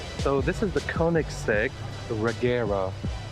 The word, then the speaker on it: Koenigsegg Regera: yes i know look how do you pronounce the name so this is the koenigsegg regera it's swedish it means to rain so koenigsegg